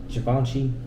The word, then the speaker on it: Givenchy: Givenchy uh -huh yeah or well am I pronouncing it right I think it's Givenchy yeah yeah that that one is like man